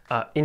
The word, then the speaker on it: Incheon: I mispronounced it in the video, it's actually Incheon.